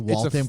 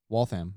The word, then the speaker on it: Waltham: Did I hear you say It's a Waltham correctly? Waltham. I've been saying it correctly for the past 6 months. No way. Yeah. That's cool. Although I did have some people try to correct me and say it's Waltham.